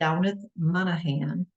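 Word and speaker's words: Damhnait Monaghan: Girl in little cold It Is by author downith Monahan her name is spelled d-a-m-h-n-a-i-t Monahan m-o-n-a-g-h-a-n and this one is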